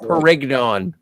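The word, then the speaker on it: Pérignon: It's pronounced Perignon.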